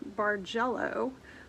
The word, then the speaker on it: Bargello: If you Google landscape quilt or Google something called Bargello, which I think is spelled B-A-R-G-E-L-L-O, you'll see kind of what you